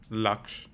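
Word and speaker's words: Lakshya: Laksh. Um, Laksh. Laksh. Laksh. Correct. Uh what what's the what's the pronunciation? It's Lux cuz that's how Ritig Rajan says it in the movie.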